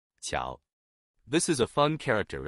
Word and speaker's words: 巧: we'll teach you the Chinese character for skillful pronunciation ciao this is a fun character in the Chinese